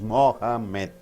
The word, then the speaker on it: Mohammed: When noun is there, you have to stress the first syllable. My name is Mohammed. Mo, that should be stressed. Mo, ha, less stressed. Med, still less stressed, right?